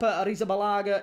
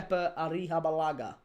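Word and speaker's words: Arrizabalaga: Keer Arisabalaga is pronounced Kea Arihabalaga.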